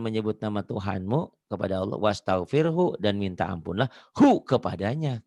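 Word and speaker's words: واستغفره: Ustadz kadang-kadang, imam masjid kadang-kadang, dia bacanya fasabbih bihamdi rabbika wastaghfir. Salah ya. Hu-nya nggak dibaca nih. Salah. Ini kan fasabbih bertasbihlah dengan menyebut nama Tuhanmu kepada Allah. Wastaghfirhu dan minta ampunlah.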